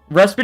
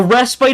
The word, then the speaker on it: respite: it right apparently respit respit is the American pronunciation respite a rest bite is the British pronunciation you buffoon rest bite is how you pronounce it is a British way American pronunciation is rest bit okay so I've been